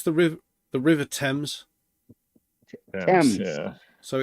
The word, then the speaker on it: Thames: It's the Thames.